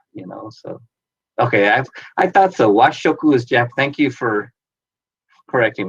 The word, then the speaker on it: Washoku: Washoku is Thank you for correcting me.